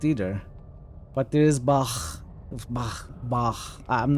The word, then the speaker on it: Bach: when I heard someone say it, it was Bach.